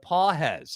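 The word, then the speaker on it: Pagés: Pedro Pages, spelled Pages, but Pages is how it's pronounced, hitting 125 in 11 games.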